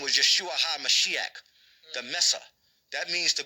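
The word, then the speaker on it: ישוע המשיח: Drop his name was Yeshua HaMashiach. That's how you say his name in the Syriac.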